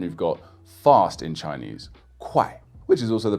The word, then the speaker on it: 快: Put a K in front of this sound and the fourth tone, and you've got fast in Chinese, 快, which is also the pronunciation for a measure word for money in Chinese.